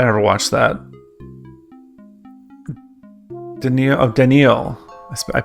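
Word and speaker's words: Danneel: Denil Oh, Denil. I I pronounced it wrong.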